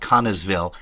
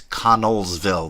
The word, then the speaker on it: Connellsville: It's not Connellsville. It's Connellsville. There's L's in there.